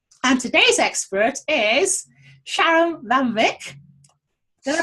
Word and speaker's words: Van Wyk: And today's expert is Sharon Van Wyk. Did I pronounce that properly? Van Wyk, but yes, close enough. You know, we Brits, if we see a letter there, we've got to pronounce Sharon Van Wyk.